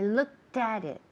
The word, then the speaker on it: looked: look at it I looked at it I looked at it okay okay look that because it's look at ending in a t sound looked at looked at